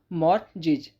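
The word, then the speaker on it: mortgage: इसमें T silent है। जब टी साइलेंट है तो उसको साइलेंट ही रखेंगे। तो इसके हम प्रोनाउंस करेंगे मॉर्जिज।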